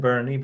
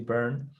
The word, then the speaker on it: Beirne: It looks like Beirne, but it's actually Beirne.